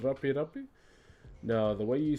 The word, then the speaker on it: rape: And the design we're doing is called rape rape. Now, the way you spell it, please don't get it twisted with an English word that is spelled the same.